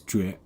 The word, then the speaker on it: 绝: Okay, so the pronunciation of the right part is 绝.